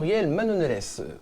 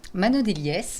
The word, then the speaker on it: Manonelles: Et pour justement parler des imprévus, j'ai le plaisir d'accueillir aujourd'hui Manonelles. Je prononce bien? Manonelies, mais ça va.